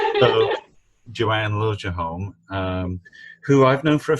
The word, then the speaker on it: Liljeholm: We have a You always Swedish want to say last name and we pronounce it the American way. so Joanne Liljeholm, who I've known for